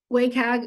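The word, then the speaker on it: WCAG: this working hello um wayag is how I pronounce it everybody else pronounces it probably different is with the new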